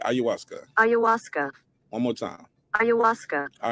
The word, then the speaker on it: ayahuasca: ayahuasca ayahuasca okay ayuska ayahuasca one more time ayahuasca all right that's how it's pronounced all right let's talk about it shout